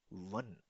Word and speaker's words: wann: und das heißt wann. Pronounce with me wann. One. Wann. Wann One.